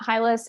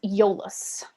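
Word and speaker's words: Iolaus: liz final answer um sorry it's not hylus it's yolos or io laos his name is sometimes pronounced all right so that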